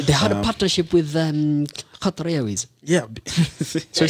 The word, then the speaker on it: Qatar: They had a partnership with Qatar Airways. Yeah. Shall we say that again? I like how you pronounce it. It's Qatar. I like it. It's not Qatar. Because me, I'm like Qatar. Me, I'm Qatar.